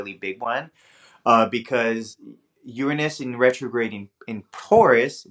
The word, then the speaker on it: Uranus: time and Spacey needs it's actually Uranus is the correct way to pronounce it I don't know where this Uranus comes from I've been saying